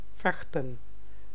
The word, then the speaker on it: vechten: Niet vechten. V is pronounced as fa, fe, f.